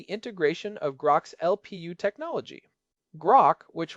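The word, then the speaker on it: Groq: Grock, which rhymes with Grock, has been the leader in ultra-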